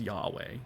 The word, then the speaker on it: Yahweh: right nowadays we actually know how that was pronounced it's yahweh not jehovah we knew it wasn't jehovah by